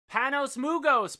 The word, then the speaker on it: Panos Mugos: Panos Mugos, pronounced like it's spelled.